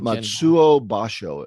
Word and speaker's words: Matsuo Basho: And how do you pronounce the name, Bill? Matsuo Basho, it sounds like to me.